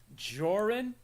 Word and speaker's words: Jorrun: accent very cool uh i go with joran but the joke i've